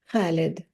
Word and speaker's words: Khalid: Even my 8-year-old could constrict her throat muscles the right way to say Khalid, immortal like an ancient olive tree, a flame that never abates, a mother's love.